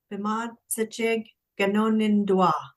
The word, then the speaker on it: Bemaadizijig Ganoonindwaa: You said for “Talking to People,” Bemaadizijig Ganoonindwaa. Ehn, perfect! So wait, can you say it? So talking to people, can you say it? Bemaadizijig Ganoonindwaa.